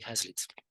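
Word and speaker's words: Hazlitt: how do you spell the second name Hazlet is spelled h a z l i Double T Henry hazlitz Henry hassle is a very good writer he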